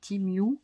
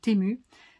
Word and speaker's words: Temu: pas comment on prononce, parce que le E en anglais c'est Temu, voilà, et donc Temu pour les Français.